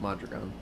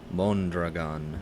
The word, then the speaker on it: Mondragon: I've always heard it pronounced Madrigon. But other people might be mispronouncing it. I'm not certain. Mondragon.